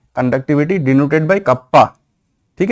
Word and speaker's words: kappa: 1 बाई रो मतलब resistivity का reciprocal क्या है, कंडक्टिविटी, डिनोटेड बाई कप्पा, ठीक है। इसका प्रोनाउंसिएशन क्या है, कप्पा, KAPPA, कप्पा।